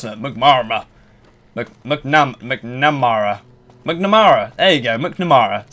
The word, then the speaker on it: McNamara: Return to Elder how do you pronounce that? McNamara.